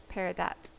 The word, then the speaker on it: peridot: schooled i've been schooled peridot well i have five of them wait six of them they're all low potential though you do actually pronounce the t okay peridot dodd pear